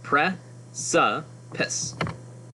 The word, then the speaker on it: precipice: I know precipice can look strange for pronunciation, but if you see they give you a pronunciation key. Pre-sa-pice.